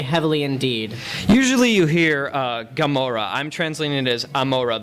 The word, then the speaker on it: Gomorrah: Usually you hear Gomorrah. I'm translating it as Amorah. The first letter of the word in Hebrew is an ayin, which is pronounced with a guttural G by more traditional speakers.